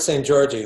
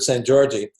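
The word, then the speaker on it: Szent-Györgyi: Well, Albert St. Georgi, who I mentioned, it's spelled SZENT hyphen GYORGYI. He's definitely one of my favorites.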